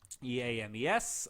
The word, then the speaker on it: Eames: we're going to type in my name e ames i always have to spell that one out to anybody who asks me